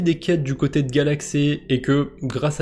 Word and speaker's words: Galxe: sur le côté social c'est galaxé alors je sais pas si ça se prononce comme ça si c'est plutôt Galaxy galxé on s'en fout comment on le prononce c'est pas le problème